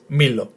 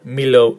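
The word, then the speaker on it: μήλο: So altogether, the word is Milo in Greek. Milo, with the emphasis on the first syllable. Milo. And obviously, Milo is an apple.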